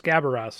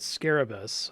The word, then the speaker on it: Scabaras: It's Scabaras, not Scarabus. I read that as Scarabus every single time I look at it.